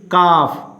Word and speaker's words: calf: Here is calf, L is silent.